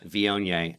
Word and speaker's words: Viognier: Yeah, the phonetic The phonetics for that would be v i e o h n a y, Viognier.